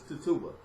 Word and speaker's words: Tituba: to me every time I hear but it's Tituba the Salem was the only black Salem check